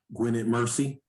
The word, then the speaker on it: Gwynedd Mercy: Gwynedd Mercy.